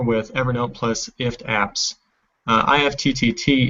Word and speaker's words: IFTTT: Evernote plus ift apps IFTTT is pronounced ift and we'll get to